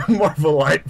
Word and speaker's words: Marvelite: The Marvelite podcast. I keep wanting to say Marvelite because this ending is spelled like elite, so that's why I thought it was the first time.